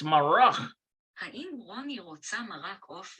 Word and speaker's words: מרק: Haim Roni rotse maroch of or vayirchot. Haim Roni rotse maroch of vayirchot. Maroch. You say that. האם רוני רוצה מרק עוף וירקות? It's marach.